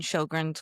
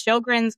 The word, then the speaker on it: Sjogren's: But on Facebook or on Instagram, it's Sjogren's Girls Guide. It does not spelled like it sounds. So it's SJ Sjogren's.